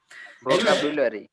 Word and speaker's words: vocabulary: Finance, এই যে নেনের উপর উচ্চারণ হবে, এটার উচ্চারণ গতকালকে অনেক কথা হয়েছে, সঠিক কে উচ্চারণ বলতে পারবে? vocabulary, আর কেউ? ভোকাবিউলারি। vocabulary, ভোকাবুলারি।